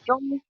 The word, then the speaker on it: Zhong: spelled like Zong. It's pronounced Okay. Zong.